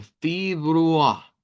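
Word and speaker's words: Februar: Recuerden que aunque está ahí una E, lo ideal es pronunciarlo como una I. Y nos va a sonar como fibrua, fibrua.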